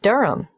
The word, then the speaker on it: Durham: at one euronga Street Durham how do you spell Durham d-u-r-h-a-m of course I should know that but it's just one of those names that sounds quite different from the way you spell it it is confusing I've